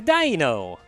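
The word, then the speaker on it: Deino: It's a dino! Dino! Dino. Dino! Dino. Because it's the German pronunciation for ein.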